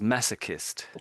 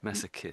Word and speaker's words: masochist: Well, so so so I would I would pronounce that as massochist. Masochist. Massoist. So I'm almost saying kissed at the end here. Kissed. Masochist.